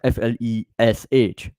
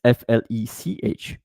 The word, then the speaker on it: FLECH: And it's not FLESH, you know, it's FLECH, because it's really important to dive into different languages.